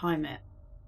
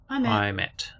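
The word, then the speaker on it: Heimat: Pronounced Haymet. Haymet.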